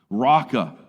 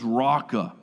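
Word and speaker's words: Raca: does doesn't it I I can't do it with the true gutural sounds of Hebrew but it almost sounds like you're about to hakal Lugi in somebody's face Rocka and in Jesus's day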